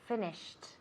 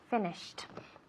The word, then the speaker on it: finished: past finished okay good is it a t or a d a d it's a T exactly finished okay that's why it has that sound at the end so finished okay yes so I'll